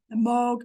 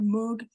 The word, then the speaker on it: Moog: the retail Market um that's a Moog or Moog some people say his name uh important name in